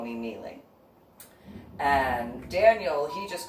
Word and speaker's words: MeeLing: to call you because it should be mailing and no it's not supposed to be mailing that is the meandering way to spell it what you're discussing my name is kneeling it is Cantonese which it is different